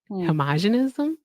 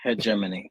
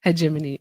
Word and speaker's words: hegemony: Homogenism.